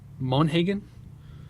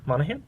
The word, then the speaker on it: Monaghan: I can't say her last name right for some reason, but Michelle Monaghan. Monaghan?